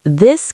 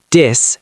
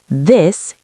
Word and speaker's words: this: Many learners say, dis and that. Yes, but the correct pronunciation is this and that. You place your tongue gently between your teeth.